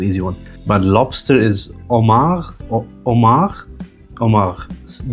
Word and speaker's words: homard: But, lobster is homard or homard. Homard. D is usually silent, and the S is silent.